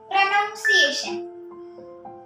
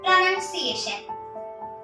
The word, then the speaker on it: pronunciation: Most probably, everyone say it as pronunciation. It is wrong. The correct one is pronunciation.